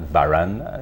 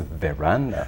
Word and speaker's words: veranda: It's not veranda, no, it's veranda.